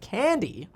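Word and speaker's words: Kandi: another expose saying that candy a chinese manufacturer of electric vehicles that's spelled k-a-n-d-i said that 60 percent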